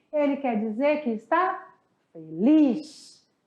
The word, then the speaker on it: feliz: Ele quer dizer que está feliz. Feliz se escreve igual, porém se pronuncia diferente. Feliz.